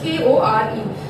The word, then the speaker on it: Kore: It's pronounced as Kore.